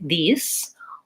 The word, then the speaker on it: these: Again, our tendency is to make an error here on the word these, and we might accidentally say that more as an S, and it might sound more like these or this. And you can hear how I can't tell which word I'm saying if I make that error.